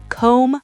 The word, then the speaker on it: comb: Here's the pattern. If you see mb at the end of a word, the b is silent.